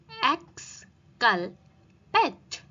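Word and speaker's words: exculpate: इसकी प्रोनंसिएशन होगी एक्स कल पेट जिसकी मीनिंग होती है प्रूव गिल्टस यानी कि निर्दोष साबित करना।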